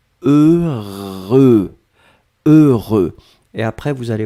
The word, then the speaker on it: heureux: votre tête deux sont le premier son 16e et le deuxième son sein vous allez voir après que vous avez eu eux le voulaient prononcé deux fois heureux donc ne ne regardez pas le h ne regardait pas le x ne regardait pas le eu juste fermer les yeux visualiser c'est cette combinaison heureux heureux et après